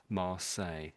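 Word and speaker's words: Marseille: I say mo most Brits say ma and this last bit is say say just like I'm talking to I'm saying something. So say Mar say that's how let's put it into the dictionary actually.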